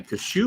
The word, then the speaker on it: Kashuba: Kashuba. I pronounced it right, didn't I? Kashuba. Yeah, you did, Dale.